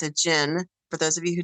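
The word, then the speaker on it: djinn: me was absolutely a gin entity it's a gin for those of you who don't know that's spelled d-j-i-n-n or j-i-n-n and they speak about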